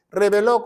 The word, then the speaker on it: reveló: Entonces la palabra de Dios dice, pongan mucha atención, dice, reveló con acento en la O, misterios, aquí están los